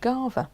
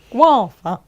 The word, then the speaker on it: guava: It's Gava, like guard. It's like, it's not though. It's guava.